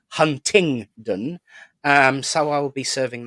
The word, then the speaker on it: Huntingdon: a proper Fanny sometimes I call it hundington um but it is of course Huntingdon um so I'll be